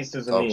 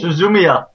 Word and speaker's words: Suzumiya: Haruhi Suzuyama. Suzumiya. Don't Yeah, how care. do you pronounce it?